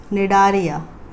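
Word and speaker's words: Cnidaria: Coelenterata का और एक नाम है निडारिया, सी साइलेंट.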